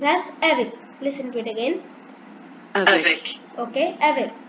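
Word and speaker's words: avec: down i'll display the meaning and it is pronounced as evic listen to it again okay and its meaning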